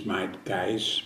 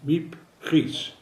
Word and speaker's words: Miep Gies: And one of the helpers was Miep Gies. Often pronounced her name is Miep Gies, but it is Miep Gies.